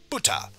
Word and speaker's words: 豚: Alright, Buta, or Buta, because I think I said it Buta, and that would be an extra T sound, but no, it's Buta, for pig.